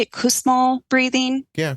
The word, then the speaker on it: Kussmaul: Kussmaul breathing? Yeah, Kussmaul.